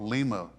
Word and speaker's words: Lima: say it should be Lima US Navy Captain John Harris brought them from Peru in 1824 so they really should be called Lima like Lima Peru yeah but that's where